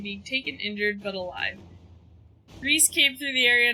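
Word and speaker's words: Rhys: It appears, based on reports gathered from rural mages, that Rus had originally intended to be at the Reese, that's how it's pronounced, but the former Templar Evangeline persuaded him not to attend.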